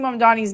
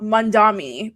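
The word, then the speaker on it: Mamdani: But it's like all of these people are mispronouncing Mandani's name and I'm just like at what point are we going to realize that it's Mandani and not Mandami?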